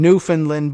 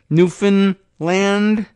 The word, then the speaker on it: Newfoundland: would have been saying Newfoundland but I guess it's a little closer to Newfoundland get it a little more emphasis on the a Newfoundland uh but I'm